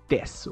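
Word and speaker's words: です: So, ano naman yung N2 desu or yung desu? Pakitake note, ang desu is a Japanese copula. Pakitake note, ang pronunciation niya hindi po desu, hindi desu. Desu po ang pronunciation. Silent u po.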